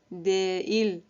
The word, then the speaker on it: değil: And the second rule is it lengthens the vowel that precedes it and connects it with the vowel that follows.